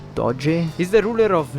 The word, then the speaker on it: Doge: I've beeen pronouncing it doggy!" I mean it's actually pronounced do-geh?